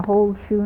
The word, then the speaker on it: Holtzschue: Lt G SCH you'ii pronounced like a whole shoe not a half shoe and of course my